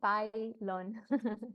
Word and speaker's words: Baylon: Yeah, it's I'm from Mexico, so the Y is actually pronounced as an I, so it's Baylon.